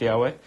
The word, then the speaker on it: Yahweh: pronounce it and proving that it actually is pronounced Yahweh so that we don't just say people argue